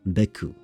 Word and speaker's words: beaucoup: Also, beaucoup. It's like 2 syllables in that word has like, what?